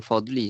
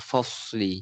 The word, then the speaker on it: الفصل: Bukan hadza yaumul fadli, hadza yaumul fasli.